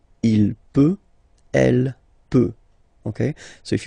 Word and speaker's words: peut: then il, elle peut, so you will put T at the end, you don't pronounce it. Il peut, elle peut.